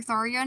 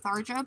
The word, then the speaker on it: Tharja: I call her Tharia, not Tharja, because I like to think that's how you say it in Pledgian, that their J's are kind of accenty instead of just saying it in a straight English way, you know.